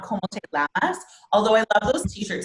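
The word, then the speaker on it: cómo te llamas: And it's pronounced como te llamas. Como te llamas. Como te llamas? Yeah, awesome. And so this this like double L here is an actual its own letter, and it's called EJ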